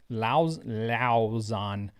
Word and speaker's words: Lauzon: It's like your Lauzon. That has to be how you pronounce it.